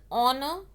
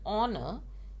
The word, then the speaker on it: honor: a genius it's an honor again honor is starting with h but it is silent while we are pronouncing it and we are our